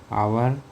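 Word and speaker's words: hour: आवर begins with silent H है ना? जैसे आवर लिखा हुआ है। सो आवर में क्या हो रहा है? एच साइलेंट है।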